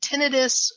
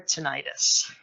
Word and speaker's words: tinnitus: I've been diagnosed with is it tinnitus or tinnitus and honestly both are appropriate pronunciations and the word itself